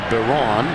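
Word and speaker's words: Isom: on the Right Guard you might think of it as Byron isim he pronounces it Baron he headbutted as he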